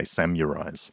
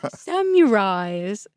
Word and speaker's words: samurai: Like people that say samurais. Samurai. Can't get over that. Samurais.